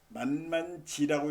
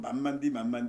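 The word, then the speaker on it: 慢慢地: 이게 만에서는 만만지라고 있는데 이건 중국식 표현이에요 사실. 우리 보통 만만디 하는 게 이게 뒤에 이 만만지라고 하는 거는 우리는 만만지라고 쓰지만 중국 사람들은 똑같이 쓰고서 만만디라고 읽어요.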